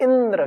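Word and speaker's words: इन्द्र: तम इदंद्रम संतम इंद्र इति आचक्षते। तम इदंद्रम संतम, इदंद्र होते हुए को भी हम क्या कहते हैं? इंद्र कहते हैं। इदंद्र को हम इंद्र कहते हैं, दा का उच्चारण नहीं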